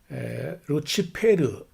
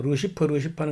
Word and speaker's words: 루치페르: 성경에 라틴어로 된 성경에 루치페르 우리가 보통 루시퍼는 것은 영어식 발음이고 원래 이제 불가타역이라는 그 번역의 라틴어 성경에 그 루시퍼는 루치페르로 되어 있는데 그 루치페르가 우리가 이사야서에 있는 대로 같으면은 아침의 아들 계명성 이렇게 되어 있거든요.